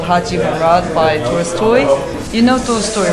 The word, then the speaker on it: Tolstoy: You know, you say Toy Story. I'm like, no, Tolstoy. And she's like, no, no, no, that's not how you say it. It's Toy Story. Like, T-O-L-S-T-O-I, Tolstoy.